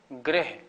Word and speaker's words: ग्रह: और ग्रह माने हैं ग्रह शनि राहु केतु आदि उसको ग्रह बोलना है इसको गृह बोलना है कि थोड़ी बात का